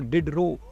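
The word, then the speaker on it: Diderot: देखना इसका नाम है डरो effect so the spelling is डी आई डी ई आर ओ टी टी इसमें साइलेंट है तो डिड रो इफेक्ट इसे बोलते हैं और इसमें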